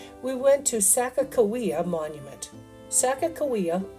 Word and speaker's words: Sacagawea: Sacagawea, oftentimes pronounced Sacagawea, is the indigenous woman who accompanied the Lewis and Clark expedition as a guide.